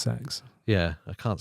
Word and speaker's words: CEX: It's pronounced sex.